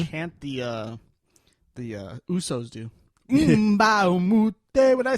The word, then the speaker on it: Usos: The Uso spell their name like USO. Uso. Mm. They have a shirt out that says, when I say oos, you say oh, but they spell it